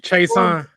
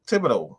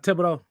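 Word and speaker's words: Thibodeaux: Kevon Chason. No. Thibodeau. That's his name. Kayvon Thibodeau.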